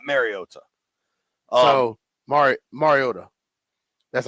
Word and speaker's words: Mariota: I think people are pronouncing it with like a soft A and it's more of a hard A. Like think about Super Mario Super Mario Brothers. Whenever you know somebody named Mario Mario.